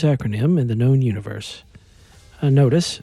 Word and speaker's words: NOTIS: in person notice hey am I pronouncing this correctly no not dice notice what is that anyway